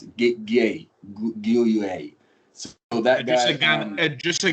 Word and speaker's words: Gueye: And it was very evident from his selection today with Marquinhos and I don't know how to pronounce it, Gueye. So that guy, just a Ghana gay.